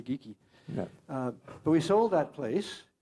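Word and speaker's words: Geikie: fellow you know and his name always gets mispronounced geiki yeah he was scottish maybe it was right but i heard it was really geeky but we sold that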